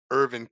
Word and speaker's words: Hervin: Or you can reach me by Facebook, Hervin. The H is pronounced silent, so it is HERV as in Victor IN, last name Okay.